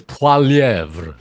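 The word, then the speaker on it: Poilievre: be either okay but I was wrong on P it's Pierre PV it's PV PV yeah Pier um he's a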